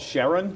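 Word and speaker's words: Charon: moon the moon's called Sharon Sharon c h a r o n I'm not quite sure how to pronounce it Karen you ask any astronomer they all pronounce it differently right um so the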